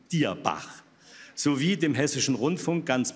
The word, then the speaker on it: Dierbach: Nicht Dürbach, sondern Dierbach.